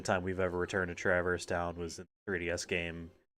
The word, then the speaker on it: Traverse Town: Oh, after this, I believe we have to go back to Traverse Town. Traverse Town. I've always called it Traverse Town.